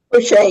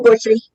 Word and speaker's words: Boucher: Boucher is fine. Or Bushy. Well, that's the other one. There's one that's anglicized, one that's French, and I'm not sure which do you prefer. Bushy, but I married into it, so. Ah, I see. Boucher, some pronounce it Bushy.